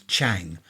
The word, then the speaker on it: Chang: And they do I think that one's Chang. That's how it's pronounced.